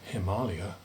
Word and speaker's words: Himalaya: Well, okay, the origins of the name Nepal are disputed, but Himalaya definitely comes from the Sanskrit, the Alaya, the home, of Himma, snow.